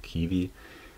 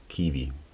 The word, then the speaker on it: Ki-V: Ausgesprochen wird das KI-V wie das hier, also Kiwi, Civivi Kiwi.